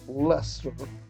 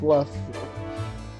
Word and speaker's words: Leicester: So I know it's pronounced Leicester. Like, well, it looks like Leicester, but it's Leicester.